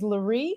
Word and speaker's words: Larie: I don't slightly correct the pronunciation of my name which is Larie like Marie but with an L that because she will